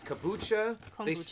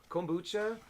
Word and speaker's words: kombucha: us they sent us kabucha kombucha i always get i always pronounced that wrong kombucha they sent us the